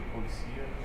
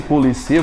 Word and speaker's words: policia: Até mesmo em acento, tipo polícia e policia. Não, mas aí muda, viu? Muda. É polícia e policia, você mudou a posição da sílaba tônica. Você, polícia, paroxítono, você deixou o oxítono.